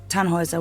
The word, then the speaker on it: Tannhauser: what's your name Tannhauser we'd pronounce it tan Wazza with an armload German